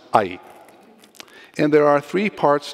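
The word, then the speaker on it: 愛: It is pronounced ai.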